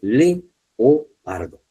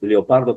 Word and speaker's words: leopardo: sílabas, porque aquí dice leopardo. Aunque nosotros digamos leopardo como si fuera leo, una sola sílaba, es leopardo.